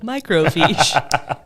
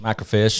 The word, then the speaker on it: microfiche: I've had all that I like your pronunciation pronounce I can't even say that the uh microfiche spell microfiche am I cro f-i-c-h-e microfiche somebody you probably say Michael fish micro fish macro fish actually you gotta get that on